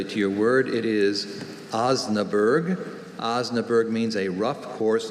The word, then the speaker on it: Osnaburg: with covers made of Osnaburg. Are there any alternate pronunciations? Just Osnaburg. Osnaburg. Osnaburg. No. Osnaburg. Osnaburg. It's not a hard vowel sound in the middle of this word.